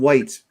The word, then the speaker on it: Whyte: starting pride corner on white white avenue is spelled w-h-y-t-e based in edmonton alberta